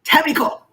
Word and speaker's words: Tamiko: Say it like in Japanese. Tamiko.